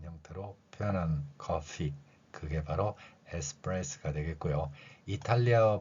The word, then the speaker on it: espresso: 이렇게 발음을 하는 것 특히 이탈리아에서는 핏소리가 우리말 쌍비읍 소리에 자연스럽게 들어가 있기 때문에 에스프레스 이렇게 표현할 수 있고요이 프레스의 뜻은